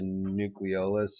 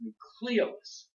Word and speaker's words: nucleolus: but it's actually pronounced nucleolus. Nucleolus? Yeah, you'll hear it mispronounced nucleolus, but it's properly pronounced nucleolus. The emphasis is on the second syllable, okay?